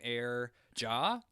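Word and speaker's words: Aire_Jah: here uh i think they pronounced their name air jaw it's like a i r e underscore j-a-h okay um what are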